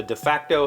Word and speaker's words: de facto: although we issue titles sasha clearly is the de facto head of our ours patronage club de facto d-e-f-a-c-t-o the pronunciation guide in here says de facto i've